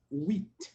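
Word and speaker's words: huit: J T whe whe it's almost like we we we but we add the T and it becomes whe Spanish eight is oo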